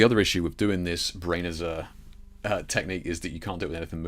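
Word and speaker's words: Brenizer: Of course, the other issue with doing this Brainizer technique is that you can't do it with anything moving, right?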